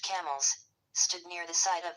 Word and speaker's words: Campbell: The Colonia of Camilleunum, the fortress of the Kimls or Campbell, pronounced camels, stood near the site of the present town of Falerk, 25 mi west of Edinburgh.